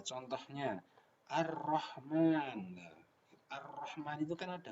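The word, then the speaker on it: الرحمن: Cara membacanya suara al-nya diidghamkan atau dimasukkan kepada huruf selanjutnya. Contohnya Ar-Rahman.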